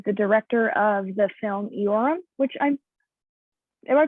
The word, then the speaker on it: Iorram: Cole, who is the director of the film Iorram, which am I pronouncing You're doing well, Iorram. All right, cool. There's always discussion between the islands of how you say it correctly, but Iorram is working well.